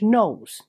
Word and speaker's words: Knollys: anglicized form of letitia and nols like beyonce which is quite fitting